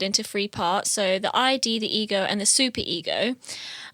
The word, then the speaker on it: id: And it's also, they say it's id, by the way. It's not ID. okay, sorry. But it's spelled Yeah. ID, so Yeah. you can see the confusion.